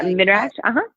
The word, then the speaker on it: midrash: What she talks about in there is, I believe it's called midrash. Is that the right pronunciation of midrash?